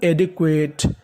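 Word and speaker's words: adequate: ADE, इसे पढ़ेंगे डे, तो इतनी मीनिंग बनी एडे। QUA, QUA को हम लोग पढ़ते हैं क्वे, अगर आपको इंग्लिश में कहीं पर QUA लिखा मिले तो आपको QUA का उच्चारण करना है क्वे, तो मीनिंग बनी एडे क्वे। TE, इसे पढ़ना है टा, तो मीनिंग बनी एडिक्वेट, एडेक्वेट।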